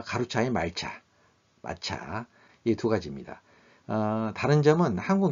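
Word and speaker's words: 抹茶: 그리고 일본인이 가장 즐겨 마시는 차는 입차인 전차, 센차로 발음하죠. 와 가루차인 말차, 마차.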